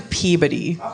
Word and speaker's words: Peabody: I grew up in Peabody oh super super tiny is that is that a town that's spelled differently than its name would suggest spelled p-e-e-b-u-d-d-y is how it sounds yes Peabody one Peabody